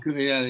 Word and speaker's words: Curiel: Is that how it's pronounced? Curiel, is it? Or? Curiel, yeah.